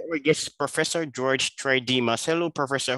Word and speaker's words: Tridimas: Second, it's Tridimas. It's a Greek name. Sorry. That's okay. I don't mind that. What I do mind is that sometimes people actually misspell it as Tridimas. And I'm not a Midas.